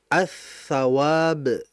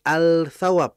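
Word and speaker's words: الثواب: kan pahala ganjaran ya kalau kita masukkan alif lam ya lam mati maka dibacanya attawab bukan alawab bukan karena memang dia ini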